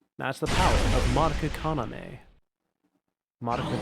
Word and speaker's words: Kaname: Madoka Kaname. There we go. I had a weird... I don't know. What was it? Inflection? Tone? Where you... Intonation, I think, is the one. I emphasized the wrong syllable.